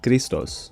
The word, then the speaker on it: Christos: at the time, boyfriend, Christos. He's Greek. That's why I'm pronouncing his name like that.